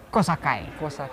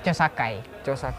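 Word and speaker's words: 調査会: Jadi Dokuritsu Junbi Kosakai. Ejaannya Chosakai. Nah, ini materi ulangan pula ya siswa ya.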